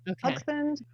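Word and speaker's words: Haugesund: Um Hudson. That's how they pronounce it on the ship.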